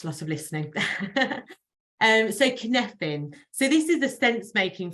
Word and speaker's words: Cynefin: I said it wrong for about a month before I realised. Cynefin. Not Seinfin, as I used to say.